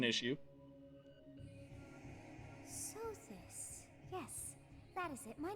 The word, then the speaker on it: Sothis: Well, that fixes the pronunciation issue. Sothis.